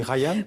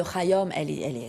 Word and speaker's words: Khayyam: Voilà, d'Omar, j'allais dire Khayyam, mais on dit Khayyam. Oui, Omar Khayyam, et vous pouvez dire Khayyam, vous pouvez le prononcer à la française.